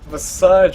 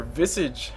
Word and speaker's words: Visage: Puck Moon over two this massage or Visage everyone pronounce it I think Visage is a cooler way to say it we see okay see